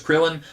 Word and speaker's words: Kuririn: Kuririn, I believe, is how it's pronounced in this book. In the cartoon, his name was Krillin. That's probably what I will call him because that's what I know him as.